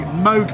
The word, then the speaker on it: Moog: We're here on the Moog booth.